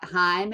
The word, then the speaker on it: Haim: there because we've got Heim and uh Gracie Abrams opening not Travis Prime um Haim I guess is probably the proper way to say that um that'd be pretty